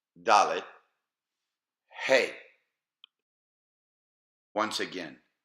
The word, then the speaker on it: Dalet: Now, let's try to pronounce them. Aleph, Bet, Gimel, Dalet, Hey. Once again, Aleph, Bet, Gimel, Dalet, Hey.